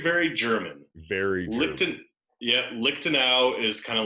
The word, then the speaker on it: Lichtenauer: go ahead alright so my name is it's phonetically I'm Lee phonetic when you look at my last name what is that that is very very German Barry Lipton yeah lick to now is kind of like the Springfield of Germany